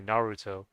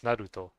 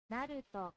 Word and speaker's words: Naruto: but I think the the way you'd pronounce the words, the R, it's more similar to uh Spanish actually because some people would say Naruto, but I I think it's Naruto. Naruto.